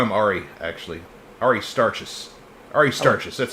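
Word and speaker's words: Aristarchus: Ari starches.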